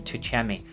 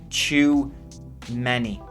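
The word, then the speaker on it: Tchouaméni: and champ to chimani that's how I should pronounce I keep saying tuchemi it's too many too many Laurice Varan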